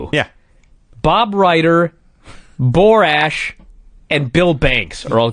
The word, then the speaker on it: Borash: And at this point, I thought, have I been saying his name wrong for 20 years, right? Because they're saying, "Look, it's Borash." Yeah. Barash.